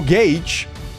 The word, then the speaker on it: gauge: But, but it's like but but why would you pronounce gage instead of gouch? It's g a u ga. Gouch. No gage.